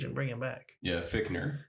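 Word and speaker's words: Fichtner: bring him back yeah fickner no fickner yeah it's spelled fissner but yeah uh Victor he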